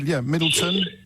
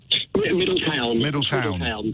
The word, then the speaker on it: Middletown: Middleton? Middletown. Beg your pardon. Yeah, all one word.